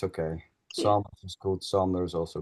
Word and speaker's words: Sander: Sander. Saunders? Sonder? Sanders is good.